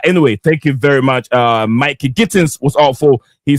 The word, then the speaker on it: Mikey: I was told that's the pronunciation is Mikey, not Mickey.